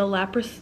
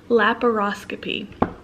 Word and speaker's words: laparoscopy: i'm having done is a lapras no lap how do they say it laparoscopy laparoscopy don't ask me i cannot